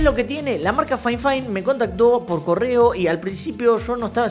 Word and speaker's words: FIFINE: a m6 y chicos la marca no se pronuncia F fine es fine fine O al menos así